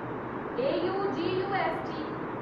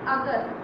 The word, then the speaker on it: August: AUGUST is not August, this is August.